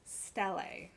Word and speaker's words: Stele: Now, the correct pronunciation, as far as I'm aware, is Stele.